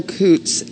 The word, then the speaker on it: Coots: so what is okay tell us who Carol Coots is and it's spelled c o o TS and that is